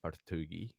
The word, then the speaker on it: Partogi: is that how I should pronounce it Joshua Pugi is that how I should pronounce it yes thank you yes that's how you pronounce it Joshua poui and before we jump into too much on